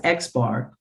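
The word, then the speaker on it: x̄: bar on the top of it and it's pronounced xar and it's the mean of a set of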